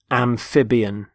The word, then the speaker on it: amphibian: first word is amphibian amphibian notice the stress on the middle syllable amphib amphibian there are animals such